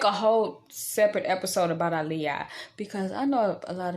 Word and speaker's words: Aaliyah: b singer aaliyah and notice i pronounce the names differently when i speak of the almighty i'm saying i'm speaking of the almighty in the pronunciation of ali yah because that's the actual correct pronunciation now aliyah is how she pronounced it and you can go and let me not say she it's how alia pronounced it and you can go back and surface up an interview of her pronouncing her name i'ma speak on terminology